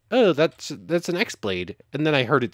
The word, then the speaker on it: X-Blade: Note, I know it says X-Blade. The X is pronounced like key.